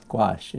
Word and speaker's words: gouache: wash twice watching anyway gouache is the his is the official pronunciation rather unfortunate name when